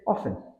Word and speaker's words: often: often stress pattern often while some Learners pronounce the T in often in Modern English it's usually silent common eror often silent is the key here just say often practice with phonetics English